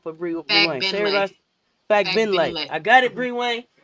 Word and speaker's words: Fagbenle: Fagbenle.